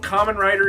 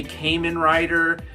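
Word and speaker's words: Kamen Rider: Okay, another thing that's really funny, people that review this figure, they don't even know what Common Rider is. They even pronounce it wrong. I've heard people say Cayman Rider.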